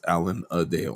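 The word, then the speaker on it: Alan-a-Dale: So, oh, we see Allan Alanadale, which is a really interesting Yes. Alan Adale. Alan Adale. It's Alan Adale.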